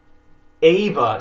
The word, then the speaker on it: Eva: Eve comes from Adam Ava spelled Eva is how Eve's name is pronounced and spelled in most European languages Adam and Eve it's